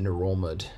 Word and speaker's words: Ngerulmud: Like the NG, you say the N, but you don't say the G part. So like the capital is NGERULMUD. You pronounce it Nerulmud.